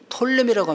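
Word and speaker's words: Ptolemy: 그리고 이쪽 이집트는 톨레미라고 합니다. 푸 발음 안 해요.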